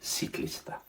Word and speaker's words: ciclista: pronunciation from Spain, then you might want to throw in the TH on some of those C's, like in the word for cyclist. I would say ciclista, because my Spanish is from Peru.